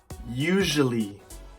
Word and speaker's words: usually: alright number 10 usually usually oh sure eerily usually now the mistake I often hear is from the S many students often say an R sound or a shish sound